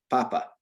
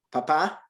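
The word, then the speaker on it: papá: And the difference is with this little accent mark that's over the A. Naturally, Spanish accents the second to last syllable in a word, unless it has the accent mark on it, and that just teaches you to shift the emphasis when you're saying something, right?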